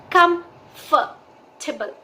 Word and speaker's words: comfortable: ध्यान दीजिए कि कंफर्टेबल जो ये वर्ड है इस वर्ड में आर की जो साउंड है वो बिल्कुल साइलेंट हो जाती है।